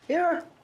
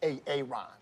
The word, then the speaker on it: Aaron: Aaron. Why didn't you say it the first time I said Aon? Because it's pronounced Aaron.